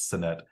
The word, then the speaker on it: Sinnett: Apparently it's Sinnett, like Tony Dorsett.